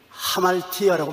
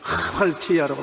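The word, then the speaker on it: ἁμαρτία: 죄라는 헬라어로 하말티아라고 말합니다. 이 히읗자 발음에 액센트를 많이 넣어서 하말티아라고 말합니다.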